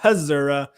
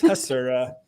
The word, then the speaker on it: Hasura: i'm straining the word hasera it it is because i am retraining my brain to say it properly because it is not hazura it is hasera uh so that's why